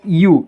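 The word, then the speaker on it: ewe: बदल जाता है अब इसका सही प्रोनंसिएशन है यू इसे यू पढ़ेंगे ई डब्लू ई तो इसे हिंदी में यू पढ़ेंगे तो यू किसके बीच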